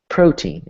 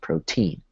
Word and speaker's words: protein: You say it like protein instead of protein, right?